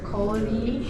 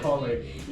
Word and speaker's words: Cory: Hey, Corey. Come on, man. So annoying. You look like a homeless person now. Friendly, lucky, food, Corey. Hello? Who's that? Who's that? I don't know Collie.